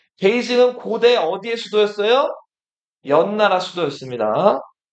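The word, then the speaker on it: 北京: 북경은 중국어로 읽으면 뭐라고 읽는다? 데이징. 베이징은 고대 어디에 수도였어요?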